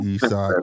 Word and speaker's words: Isak: And what is Isaac Isak? It's spelled the same way. It's Isak. I know it's Isak.